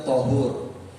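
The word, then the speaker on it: طَهُور: Tuhur dalam bahasa Arab itu ada kata tohur dan ada kata tuhur. Ada kata tohur, tok pakai fathah, dibacanya tohur. Dan ada dengan tuhur, toknya itu pakai dhammah. Tuhur.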